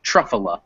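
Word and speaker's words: Truffula: stuff so truff then in english the first syllable tends to get the emphasis so that second syllable is definitely unstressed and the final one gets secondary stress because sometimes in english words especially ones that end in vowels like this a secondary stress goes on the very end of the word so it gets spelled like love but i say it truffle tougher yeah all right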